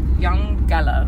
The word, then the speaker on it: Eungella: have done yesterday um it's actually pronounced young gela which means land of the clouds um named by the